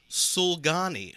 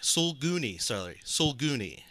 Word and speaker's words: sulguni: Evan, yours is the or a Sulgani. Sulguni. And you're not going to spell it for me, Sulguni. Right? Sulguni. It's spelled Sulguni.